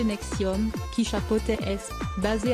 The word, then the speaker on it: NXIVM: En 2003, il a créé une deuxième entité, baptisée NXIVM, prononcée Nexium, qui chapeautait ESP, basée à Albany, capitale de l'État de New York.